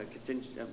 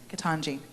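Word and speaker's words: Ketanji: of our newest supreme court justice nominee uh contin i'm going to say it wrong first and i got jackson in my mind what's your first name katanji see i was going to say contingency but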